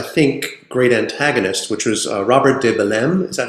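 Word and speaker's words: Robert de Bellême: of his, I think, great antagonists, which was Robert de Belem. Is that how you pronounce it?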